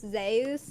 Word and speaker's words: Zeus: uh that I found out that Zeus is actually pronounced Zus in current Greek.